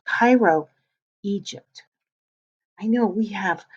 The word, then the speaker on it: Cairo: that is that's writing and that word says cairo it's pronounced cairo egypt i know we have a word that